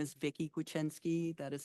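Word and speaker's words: Kwiecinski: having us here uh my name is Vicki guiny that is spelled k w i e c i nski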